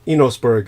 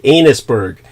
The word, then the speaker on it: Enosburg: of that uh sure sure it's a e n o s b u r g n osberg you know inosburg I mean the only reason it's it's not in my place to correct your pronunciation but the way you said it it came out sounding like anus Berg and I was thinking